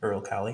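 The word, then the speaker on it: Uralkali: well they'd already removed is it earl cali earl cali is how you say their title sponsor who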